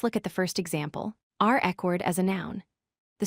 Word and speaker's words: record: used as a verb, reCORD. This time, the stress falls on the second syllable, cord. We say it is reCORD with emphasis on that last syllable.